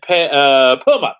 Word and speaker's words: Permut: It's got a P in it. Permut. Oh, not Penmut. Ben Permut.